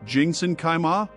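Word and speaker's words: 清真开吗: of the shop owner by saying, Qingzhen Kaima, pronounced Jingsen Kaima?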